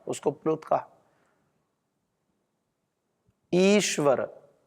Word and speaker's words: ईश्वर: ईश्वर तो ईश्वर में जो इ है वो दीर्घ है। ह्रस्व नहीं है। ईश्वर नहीं बोलते हम ईश्वर। बोलते ईश्वर ईश्वर क्योंकि वह दीर्घ है तो यह हमें बता